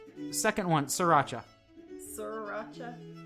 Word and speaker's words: Sriracha: Second one, Sriracha. Sriracha. A lot of people say Sriracha. Do they not see that the I is like after the R instead of before the R?